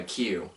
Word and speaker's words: kyu: colors we would also call them by Q which is spelled kyu kyu stance were signifying